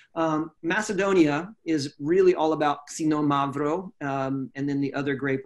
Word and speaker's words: Xinomavro: here to pronounce the xinomavro like because almost like casino like you're saying the word casino Mavro it says which sounds about right now yeah that's pretty close xinomavro xinomavro and then I